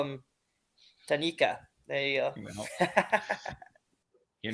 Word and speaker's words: Tanaka: And you pronounced Tanaka's name wrong. It was Tanika, I believe so.